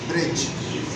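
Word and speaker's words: bridge: क्या अंग्रेजी बज ब आर आई डी जीी ब्रिज साकन है ठीक है वो साइलेंट है वो उसका नहीं आएगा तो ये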